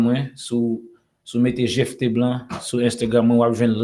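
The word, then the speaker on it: Gephte Blanc: On a mis on connaît PH là prononcé en français comme F. Exactement. Oui. Well, GFT Blanc, ouais.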